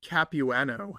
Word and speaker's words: Capuano: Capueno. C A P as in Peter. UA N is in Nancy O. I spell it like my mom did growing up.